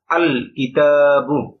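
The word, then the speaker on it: ٱلْكِتَابُ: তাহলে উচ্চারণ হচ্ছে আল কিতাবু। এখানে লামটা উচ্চারিত হচ্ছে। লামটা এখানে উচ্চারিত হচ্ছে আল কিতাবু।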